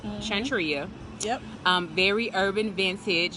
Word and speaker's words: Shantria: to century you pronounce your names am i pronouncing it right Chantry oh yeah very urban vintage you've had some